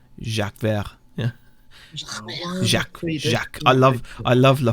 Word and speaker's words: Jacques Vert: That's nice pronunciation, there, Z. Jacques Vert, yeah.